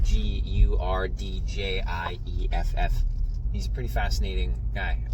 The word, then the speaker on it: Gurdjieff: I've always said Gurdjieff, but it's actually pronounced Gurdjieff.